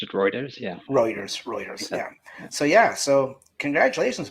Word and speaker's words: Reuters: Is it Routers or Routers, or how do you pronounce that company? Reuters. I've always pronounced it Reuters.